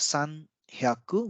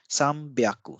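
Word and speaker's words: 三百: instead of San yaku instead of sun hyaku we call it sambiaku so here you can see instead of HE and yeah we have B and yeah so this is another Blended sound byaku then next is 400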